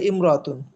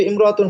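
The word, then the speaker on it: امرأة: কোন পরিবর্তন আসছে না কিন্তু ইমরতুন শব্দটা ব্যতিক্রম ইমরাতুন শব্দের আগে যখন অন্য শব্দটা অন্য শব্দ থাকবে তখন শরুর আলিফটা লেখায় থাকবে কিন্তু উচ্চারণে থাকবে না আলিফের পরে যে মিম সেকেন্ডটা আছে জজম যুক্ত মিম আছে সেটা পূর্বের হরকতের সাথে মিলে যাবে যেমন হিয়ামরাতুন সে একজন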